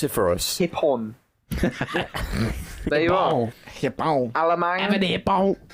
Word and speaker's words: Hipon: pronounce it for us? Hipon.